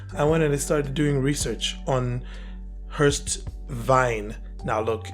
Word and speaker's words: Wein: doing research on Hurst Vine now look it's supposed to be pronounced Vine I you know I'm going to go between saying Vine and Vin during this video so don't be put